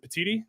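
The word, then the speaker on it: Petitti: and who knows if Tony uh is it petiti is that how you say it yes um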